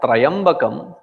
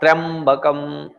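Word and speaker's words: त्र्यम्बकम्: When you say Trayambakam, it is Traya. There is no Traya there, it is Trya. So it has to be pronounced not as Trayambakam, but Trayambakam.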